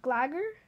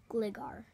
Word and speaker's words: Gligar: It's pronounced. This one? We had. Glider. Wait. Let me see. Glagger? Gligar.